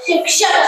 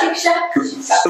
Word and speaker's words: शिक्षक: बता मैं क्या हूं शिक्षा श शि शिक्ष शिक्षक शिक्षक शिक्षक लोग कहेंगे शिक्षक नेताओं